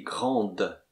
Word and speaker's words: grande: Par exemple, elle est ronde, elle est ronde, elle est grande. Et on prononce la consonne finale.